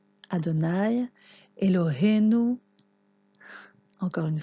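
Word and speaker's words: אֲדֹנָי: israël quels mots suivants vous savez le prononcer adonaï et l'aurait nous encore une fois adonaï herrade écoute israël l'éternel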